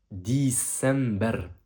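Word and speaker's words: ديسمبر: Décembre se prononce en arabe December. Répète après moi. December.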